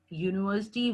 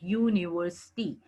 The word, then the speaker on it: university: gives a consonant sound, university. That means it is giving us Y sound, U, university.